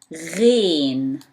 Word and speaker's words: غين: Remember, ayn pronounced as Ghain pronounced as gh. Some people, when they say pronounce like GH, they are trying to get as close as it can be to English, but there is nothing in English pronounced like ghain.